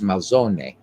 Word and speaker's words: Malzone: And you'll probably hear me actually use Malzone. I'm actually going to probably say it the way it should be said, which is Malzone, because we don't have silent letters in Italian.